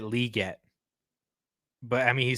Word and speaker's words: Legette: it's like Xavier like I learned that Xavier Legette he pronounces it liette but I mean he